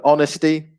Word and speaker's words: honesty: well the stress so honesty the silent h for example there's no h in honesty but the stress is on the first syllable okay uh punctuality the